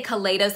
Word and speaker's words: Kaleidos: This is the Kaleidos. I say Kaleidos because I think kaleidoscope, but a lot of people say Kaleidos.